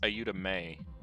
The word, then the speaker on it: Ayuda May: It's pronounced Ayuda May. It's the pun they were making, the names being Ayuda and May.